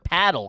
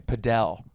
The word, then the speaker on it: padel: Or are you the classier paddle kind of guy? Yeah. Good for you for saying it correctly because a lot of people would say padell.